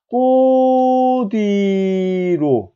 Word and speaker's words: 꽃 위로: 디귿 대표음화로 바꿔준 다음에 이 녀석이 자리에 아무것도 없는 그러니까 빈자리인 요 이응 자리로 휙 넘어가니까 발음을 갖다 어떻게 해야 된다? 꼬뒤로 됐죠?